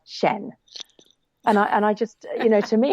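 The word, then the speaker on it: Xian: I clicked on it, and it said Shen.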